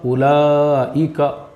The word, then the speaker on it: اولئک: اولائی، کاف زبر ک، اولئک، عین زبر ع، لام کھڑا زبر لا، علا، اب وہاں پہ بھی یا جو ہے وہ صرف لکھنے میں آئے گا، سائلنٹ ہے۔ اس طرح سے جو